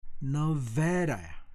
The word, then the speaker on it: Nevada: 자, 다시 한번 발음. 네바다가 아닙니다. Nevada, Nevada residents.